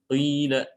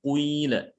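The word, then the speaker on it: قيل: Seperti misalnya qila, ya, qila, seperti itu. Suiat. Karena tidak boleh kalau tidak bukan riwayatnya. Ya, riwayat Hafs bacanya siat, ya, bukan suiat. Qila, bukan quila, ya.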